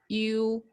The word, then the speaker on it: ü: top, this one, it's we pronounce it as U. How do you say that? How do you pronounce? How do you? I don't think English has this sound.